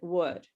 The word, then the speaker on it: would: But first of all, I want to tell you that the L is silent. We don't say the L in would. Okay, it's silent.